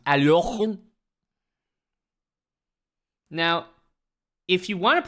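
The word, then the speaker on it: Alekhine: You could say Alakine. You could say Aliakin. Or you could pronounce it properly where your throat just becomes Aliochun.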